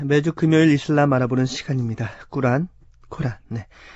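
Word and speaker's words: قرآن: 금요일 이슬람 알아보는 시간입니다 꾸란 코란네 코란의 아랍어 발음은 꾸란이 그리고 또 마오메이 아르버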